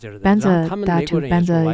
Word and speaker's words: vajra: Vajra is benza is the Tibetan pronunciation of vajra.